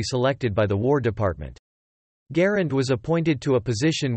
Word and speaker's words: Garand: pronunciation of the name garind is often disputed being pronounced variably as ur descendants of john garand and his close friend general julian hatcher generally agree that it is the latter rhyming approximately with aaron designer of firearms garen's